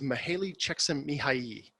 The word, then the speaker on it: Csikszentmihalyi: get into the flow theory and this is Mihaly Csikszentmihalyi which that's all I like to do is